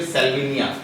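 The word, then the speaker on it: Salvinia: सेल्विनिया pronunciation सही करना है। क्या है स्ट्रक्चर? सेल्विनिया।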